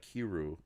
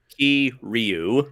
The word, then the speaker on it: Kiryu: Like I really do like Kiru. Damn it, did I say his name wrong? Kiryu. Kiryu a lot. So Kiru. Yeah. No, Kiryu. Kiryu. It's 3 syllables.